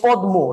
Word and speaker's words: পদ্ম: এই পদ্মের উচ্চারণ হওয়ার কথা ছিল পদ্ম, রাইট? দয়ের সাথে ম যুক্ত হয়েছে, আমরা তো পদ্ম উচ্চারণ করি, মটা উচ্চারিত হয় না, ঠিক আছে ফাইন।